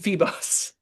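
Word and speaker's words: Febos: kick your butt and get you working, read Feebos. How do you spell that?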